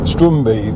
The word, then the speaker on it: Strumpi: I mean, Strumbi near Polemi, for instance, is actually spelled Strumpi, but the P is pronounced B.